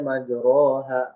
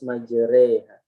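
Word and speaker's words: مجريها: Walaupun tulisannya kan majroha. Ya, jadi nggak boleh kita baca majroha, nggak, harus majreha.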